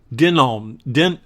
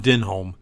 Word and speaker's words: Domhnall: Say his name again. Domhnall, not Denholm. It's Domhnall.